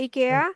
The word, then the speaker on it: IKEA: IKEA ya? Ya, IKEA nggak tahu deh. IKEA. IKEA. Kalau orang Swedishnya Sweden. bilangnya IKEA. Oh, Kalau IKEA. Amerika bilangnya IKEA.